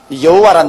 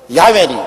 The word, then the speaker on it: 야훼: 바로 그 사닥다리 꼭대기 위에 야훼 하나님이 계십니다. 여호와란 말은 원래 올바른 히브리어 발음은 야훼입니다. 야훼란 발음이 우리 한국식으로 번역해서 여호와라 하는데 원래 정확한 발음은 야훼 하나님이신 것입니다.